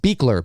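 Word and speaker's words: Buechler: Oh Darrin sands here it's pronounced beekler beekler okay thanks very much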